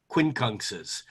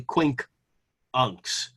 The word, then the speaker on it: quincunx: for that matter um first of all we say it wrong i say it wrong too we all say quincunx it's actually quink unks because unks is 12 and quink is five and a quink hunks is five twelfths of a circle it to ptolemy the